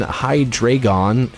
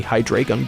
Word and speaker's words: Hydreigon: I'm going to switch in Hydreigon.